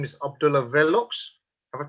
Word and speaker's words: Vellox: Now, today I have a very special guest, and his name is Abdullah Vellox. Have I pronounced that correctly? Yes, you have. It's Vellox or Vellox.